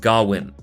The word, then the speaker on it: Gawain: and the green knight there are several interpretations of the pronunciation of gawain's name and in the film they tend to go with gawin in this video i'll go with gawain the original poem is